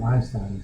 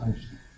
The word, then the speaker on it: Einstein: And in German, anything with an S followed by a consonant is pronounced sh. It's not Einstein, it's Einstein. Or it's like John Steinbeck, it's like Stein.